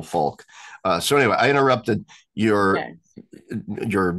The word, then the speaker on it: Falque: And his last name, for the viewers who are interested, is spelled Falque. So Immanuel Falk.